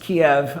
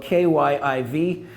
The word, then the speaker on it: Kyiv: So it's not pronounced Kiev, although on a lot of Western maps it appears that way. It's actually spelled K-Y-I-V and pronounced Kyiv.